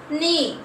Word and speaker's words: knee: Knee. K is a silent letter.